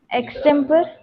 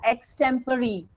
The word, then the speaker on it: extempore: It is known as, yes, can you pronounce it again? Extemporary. It's, yeah, your answer is right, but the pronunciation is wrong. it is pronounced as extempore.